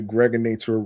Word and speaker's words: Greg Nator: I'm your man, aka the Greg Nator rhymes with now or later.